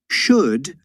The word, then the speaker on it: should: Should rhymes with would, could, and good.